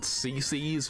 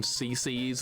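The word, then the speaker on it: CiCi's: CeCe's. It's spelled CI. Anybody have that? CC's is awesome.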